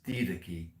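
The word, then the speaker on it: Didache: sent Ignatius of Antioch um and also the D key spelled daachi d d a c h e pronounce d Kei um and if you can get those um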